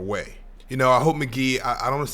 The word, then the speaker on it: Mk.gee: react to his uh I guess debut album pronounce McGee at some point um but man McGee he's one of the best